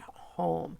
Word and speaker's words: home: fastest snap words and home had the Oh silence e vowel pattern so we knew that oh says oh the long sound home look a home and